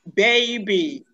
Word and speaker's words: baby: Pronounce after me, baby. Baby. Baby. Baby. Baby. Baby. Notice that the diphthong A is in the word baby, and you must realize that diphthong.